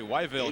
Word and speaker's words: Whiteville: is from North Carolina from Whiteville which he says they pronounce really weville here 60 family members